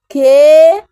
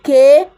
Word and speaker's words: kee: So remember, this is double that is pronounced kee. You have to stress it, kee.